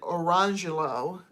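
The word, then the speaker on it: Orangejello: And this is where the Jello comes in, because someone named their kid spelling wise Orange Jello, but pronounced it Orangelo.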